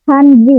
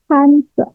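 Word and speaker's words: 汉字: Bacanya bukan Hanji, tapi Hanse.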